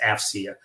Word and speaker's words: AFCEA: we go by our acronym afcea and it's pronounced afia um we bring together government industry and Academia